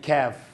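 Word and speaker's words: كاف: word na qatar so ito naman ay kaf letter letter ke ka k naka-smile ka so ang kaibahan nila ito ay ko parang galit ka ko. Ito ay ke yan letter k tulad ng cat so siya ay kasama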